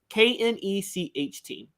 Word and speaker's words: Knecht: ready for the weekend, I believe the name is pronounced Knet, Dalton Knet from Northern Colorado, or maybe it's just Dalton Knet, Knecht.